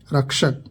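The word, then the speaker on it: wreck: Guard, रक्षक। Building, इमारत। डब्लू, अगर किसी शब्द की शुरुआत में डब्लू हो और उसके बाद आर हो तो डब्लू साइलेंट होता है।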